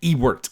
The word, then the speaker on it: Ewart: I like Earts. Uh I think I'm pronouncing that right. That may not be. Ewart. Ewart. There's no S.